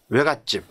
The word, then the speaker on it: 외갓집: 근데 예를 들어 처갓집, 외갓집. 이때는 또왜 들어가죠? 이때는 처갓집, 외갓집. 발음이 사이소리 발음이 난다는 겁니다.